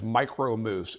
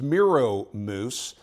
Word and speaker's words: Miro Moose: I refer to these, the Dubuque brand, as Micro Moose. It's Miro Moose. I can't believe that for probably 35 years I've been pronouncing it wrong.